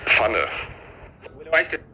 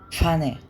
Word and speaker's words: Pfanne: بص اسمعوها برض منه Das habt ihr gerade schon gesehen beim Pferd. Das wird dann ein und das gibt es auch noch bei anderen Wörtern, z.B. bei der Pfanne. Pfanne.